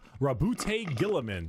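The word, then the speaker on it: Roboute Guilliman: Rabbout Gillaman. That's how Yeah, that's how it's said.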